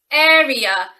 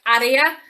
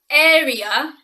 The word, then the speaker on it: area: this so we say area as in like the air that's all around us and ear i find that many